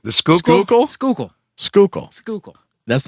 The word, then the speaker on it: Schuylkill: The Schuylkill?